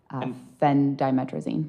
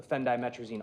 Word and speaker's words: phendimetrazine: Yes, that is spelled Phendimetrazine. Phendimetrazine.